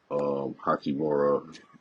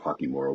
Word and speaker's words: Hachimura: But what I will say is this: now with this new, I guess, revamped team, with D'Lo, Hachimura, Hachimura. or Hakimura, Yeah.